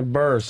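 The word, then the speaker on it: Burress: How do you say Barras? Barras? Yeah, Burst.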